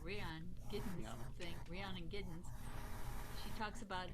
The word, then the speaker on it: Rhiannon Giddens: how i got to that yeah intro to rihanna i'd never say her name right rayon getting something rhiannon giddens she talks about how cotton was pete seeger's